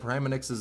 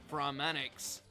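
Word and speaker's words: Pramanix: But at the same time, homie dead ass said Prammanix's name like this. Brahmanx.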